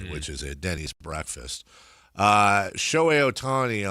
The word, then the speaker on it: Shohei Ohtani: Shohei Ohtani, on the other hand, which also rhymes with show me the money, same syllables.